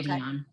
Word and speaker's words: Deonne: Deonne.